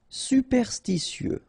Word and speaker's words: superstitieux: Superstitieux, okay, so final X not pronounced.